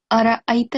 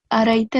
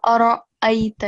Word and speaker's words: أرأيت: First of all, here it's Ara'ayta allazi, but you said Ara'ayta allazi. So you have to make clear pronunciation and distinguish between the fatha stroke on ra and the sound that is created by Hamza.